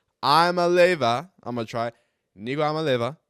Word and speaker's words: Iamaleava: So Iamaleava, I'm gonna try Nico Iamaleava. I'm going to just kind of float over the M there.